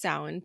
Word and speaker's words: Samhain: Celtic holiday originates from the old Irish words samine which means Summer's end and I'm probably said that super wrong I'm sorry don't have any Irish ancestor it's a hard word you guys but it's it's pronounced sound but anyway so it it originates from from